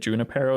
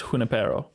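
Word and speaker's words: Junípero: So I'm going to be honest, every time I've read it to myself in my head while I was preparing this, I've always said Junipero in my head. It is spelled with a J, but it's Junipero.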